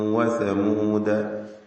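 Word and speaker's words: وثمودا: വആദൻ വസമൂദ. വസമൂദ എന്നതിന് ശേഷം ഒരലിഫ് എഴുതിയതായി നമുക്ക് കാണുവാൻ സാധിക്കുന്നതാണ്. അവിടെ യഥാർത്ഥത്തിൽ നമ്മുടെ റിവായത്ത് പ്രകാരം ആ അലിഫിന് ഒരു സ്ഥാനവും തന്നെ ഇല്ല.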